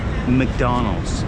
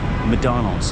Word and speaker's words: McDonald's: But McDonald's. Sometimes you don't even pronounce the C. McDonald's. McDonald's.